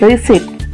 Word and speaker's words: receipt: Third one, the letter P is silent in the word receipt. Fourth one, the letter B is silent in the word humbly.